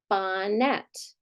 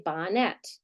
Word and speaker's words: bonnet: but do we say Bonet the baby wore a bonnet no what do we say Bonnet right so again we